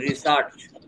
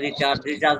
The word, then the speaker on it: research: research উচ্চারণ ঠিক মতো করেন। রিসার্চ আবার বলে রিচার্জ না, ফোন রিচার্জ করা যাবে না।